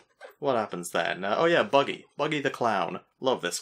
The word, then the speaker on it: Buggy: well yes yeah so so buggy or baggy as his name was originally supposed to be pronounced I think Oda just